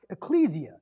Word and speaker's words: ecclesia: building the word church in the greek is pronounced ecclesia and it means a group or a called